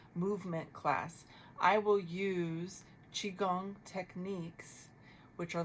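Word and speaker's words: qigong: Chiong is spelled qi. one word. Second word, gong. G O N G.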